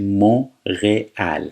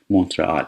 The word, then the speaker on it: Montréal: ببینید این تلفظش مونرئال هستش. ت خونده نمیشه. در صورتی تو انگلیسی یا تو فارسی مثلا ما میگیم مونترال، یه شهر توی کاناداست.